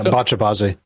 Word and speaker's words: Bacha-bazi: Yeah, Bacha-bazi.